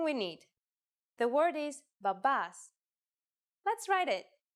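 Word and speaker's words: μπαμπάς: The word is babas. Let's write it. Babas, if you notice that me and B together actually sound like B, you were right.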